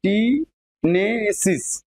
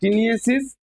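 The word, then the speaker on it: taeniasis: তারপর কৃমিজনিতটা তোমার ফাইলেরিয়া, অ্যাসকোরিওসিস আর টিটেনেসিস, না টিনেসিস, হ্যাঁ টিনিয়েসিস।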